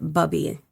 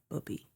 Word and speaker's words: Bubby: were very Jewish and they pronounced it Bubby because it was Bubby and Sadi. Okay. Zadeie. Bubby and Satie. I think it's Satie. But Bubby I remember being Bubby. Not not booby.